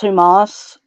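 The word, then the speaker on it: ὑμᾶς: Now, that is pronounced Humas.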